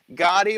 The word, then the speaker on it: Gaudy: for that donation also gaudy gaudy rhymes with body God he's coming to